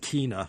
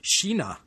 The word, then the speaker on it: Kina: I said Kina in an earlier podcast, and it should be pronounced Kina. Who knew a Swedish K is our English SH?